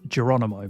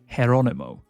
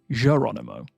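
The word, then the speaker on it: Jeronimo: But in Spanish, which is where this name typically comes from, the J is pronounced more like an H. So instead of Geronimo, it's actually more Geronimo.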